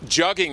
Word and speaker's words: jugging: Jugging rhymes with mugging.